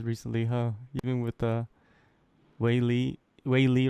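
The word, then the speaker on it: Weili: lot of champions recently huh even with uh waily waily right that's how you pronounce it yeah yeah yeah just super fortunate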